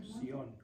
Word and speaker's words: Sión: S-I-O-N, con acento en la O. Sión.